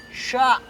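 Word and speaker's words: ش: Cara membaca ini sebenarnya kalau bahasanya begini. Sya. Sya. Ini shin besar, ngomongnya juga harus begitu ya.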